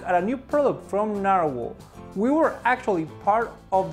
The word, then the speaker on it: Nahvalur: It's Icelandic for Nahvalur, and we still pronounce it as Nahvalur.